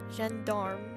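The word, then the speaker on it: gendarme: time again yes but the m is pronounced so it's not mute Jen Dar jandarm okay that still sounds really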